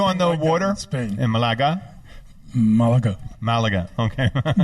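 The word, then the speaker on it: Málaga: drink we're yeah Oh Malaga yes we call it malaga malaga where's malaga near they in spanish the accent is always on the last syllable yeah mark is on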